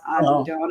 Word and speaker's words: Adena: It looks like Andina, but it's pronounced Adena.